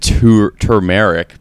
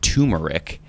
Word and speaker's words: turmeric: I pronounce it turmeric because that's what it looks like, and everyone's pronouncing it turmeric.